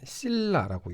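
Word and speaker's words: cilia: 어, 영어로는 실라 뭐 킬라라고도 하는데 미국식 발음은 실라라고 있고요.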